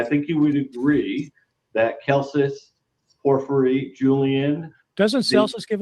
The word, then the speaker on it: Celsus: Well, the argument that Celsus makes, and I actually think it should be Celsus if we're going to go by classical Latin pronunciation, but however you pronounce